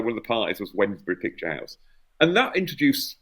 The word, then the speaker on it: Wednesbury: Now that somebody's taught me how to pronounce that properly, because the last time I kept saying Wednesbury, and they're going, no, I live there, it's Wednesbury. That's a case we took.